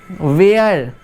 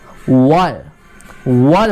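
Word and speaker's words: were: अब बहुत से लोग बोलते हैं वेयर, जबकि सही प्रोनाउंसिएशन क्या होगी, सही बोलने का तरीका क्या होगा, वेयर नहीं होगा, वर होगा, ठीक है।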